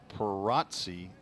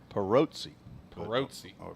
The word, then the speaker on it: Pirozzi: probably the pirosi family I think I pronounced that parazzi the last time and they they corrected me I think they corrected me to perotzi but it was the O was more